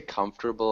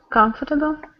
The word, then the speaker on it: comfortable: yes did you say comfortable armchair yes okay can you just repeat comfortable comfortable comfortable comfortable not quite comfortable this is a really tricky word um so just sounds like three three syllables comfortable comfortable comfortable perfect